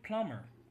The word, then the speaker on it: plumber: know the B is not pronounced can you pronounce this word for us mister that's a plum ya plumber somehow something is missing from this word and